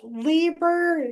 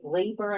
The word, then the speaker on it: Liber: Anyway, I'm you know, it's a it's Liber because it's German, but it's it's spelled Liber, so it's very confusing. That's what I thought it was, but then I thought I heard Anna say Libra, and I'm like, oh, okay.